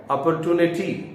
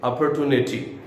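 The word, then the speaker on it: opportunity: ट्यूनिटी भी बोलते हैं अमेरिकन इंग्लिश में इसको कैसे प्रोनाउंस किया जाता है अपॉर्चुनिटी और ब्रिटिश इंग्लिश में इसको क्या प्रोनाउंस करते हैं और यू कैन से अपर तू यूनिटी इस आईटी क्लियर कुछ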